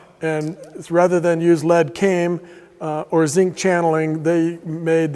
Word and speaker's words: came: to pronounce that well the L is silent so now you just see it written C AME but lead isn't always